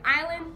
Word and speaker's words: island: In the word island, the S is silent.